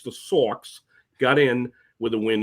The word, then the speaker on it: Sox: And then in the final day, the Sox, as we pronounce it in New England, S-A-W-X, the Sox got in with a win in D.C.